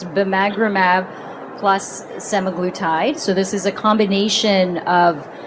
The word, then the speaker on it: bimagrumab: So the first one would be a session from this morning, and it was looking at bimagrumab, which I've learned how to pronounce, bimagrumab plus semaglutide.